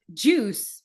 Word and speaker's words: juice: So UICE is, well, UI is you, is the pronunciation as you.